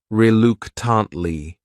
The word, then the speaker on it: reluctantly: next word is reluctantly this word has four syllables and the stress is on that second syllable that third syllable also has that schah reluctantly reluctantly what it means